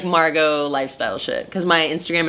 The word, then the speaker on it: Margo: It's M-A-R-G-O, Margo. No T, no A-U-X, no crazy shit.